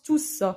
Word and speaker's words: tous: a un sens collectif, soit on le met au pluriel et on prononce le S. C'est le seul cas où on prononce tous.